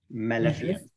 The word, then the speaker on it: maleficence: Maleficence, okay? Maleficence. Maleficence. Here is the spelling. Maleficence. Maleficence. I think he mispronounced it.